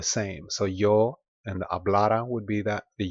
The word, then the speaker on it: hablara: So the yo form is hablara. Hablara. Now there's no accent mark on it, and the stress is on this letter A, the middle A.